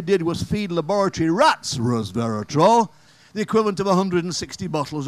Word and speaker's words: resveratrol: And they always say it like that, resveratrol.